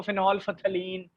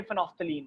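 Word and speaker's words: phenolphthalein: तोड़ के नहीं बोलना, इसको केमिस्ट्री में फेनोफ्थलीन बोला जाता है. अक्सर लोग इसको फिनॉल फथलीन, फिनॉल फथैलीन इस तरह भी बोलते हैं, लेकिन ये फेनोफ्थलीन है. ठीक है, फेनोफ्थलीन एल साइलेंट है.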